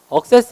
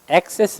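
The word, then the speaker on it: access: 다음 자의 달아 의 바람은 억세스 아니에요 xs 입니다 여러분의 컴퓨터 하다보면 갑자기 컴퓨터 창이 답답하고 액세스가 거부되었습니다 이렇게 나오죠 정확한 발음입니다 내가 엑세스 라고만 바람을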